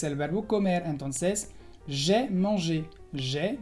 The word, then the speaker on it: mangé: Entonces, j'ai mangé. J'ai mangé. Se pronuncia igual.